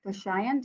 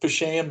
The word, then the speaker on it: Pashayan: Pashayan. Did I pronounce that correctly? It's pronounced Pashayan, but that's close enough.